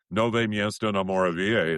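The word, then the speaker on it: Nové Město na Moravě: Nove miesto no moravia."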